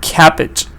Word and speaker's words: cabbage: a schwa carrot and cabbage this is a short e cabbage but we will give